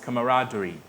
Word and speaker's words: camaraderie: Put your hands together for The word is pronounced camaraderie.